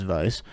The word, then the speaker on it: Weiss: She uh or Weiss, Barry Weiss, but in German it's Vice.